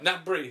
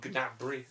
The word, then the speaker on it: Gnabry: Nabry, that's Yeah. it. I keep wanting to call him Gnabry. Gnab, or whatever. Because that's how it's spelled.